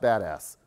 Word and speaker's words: BDAS: and uh it's pronounced the acronym is pronounced badass if you've if you've heard that so uh i will try to say that without cracking a smile but yeah so it's called the badass system and um you